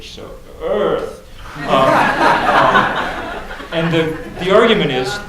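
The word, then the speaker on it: Eaarth: called Earth it's called you have to pronounce it more like you were like Arnold Schwarzenegger it's spelled e a r t so Earth and the the argument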